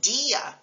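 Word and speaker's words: día: vowels into two syllables for example normally I a is a single syllable as an Diablo Diablo but in a word like Dia the accent mark on the I turns it into two syllables another example is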